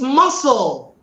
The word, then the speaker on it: muscle: Another one is muscle. I grew up knowing that. Okay, what is muscle? I was always, so if eventually, when I found out the right thing, I was amazed. It's muscle, not muzzle.